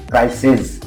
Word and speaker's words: क्राइसिस: सारे एक साथ है क्राइसिस अब देखो दोनों में एस आ रहा है लेकिन प्रोनंसिएशन में फर्क है यहां प स होगा य प ज का उच्चारण आ जाएगा क्राइसिस क्राइसिस थीसिस रिसर्च वगैरह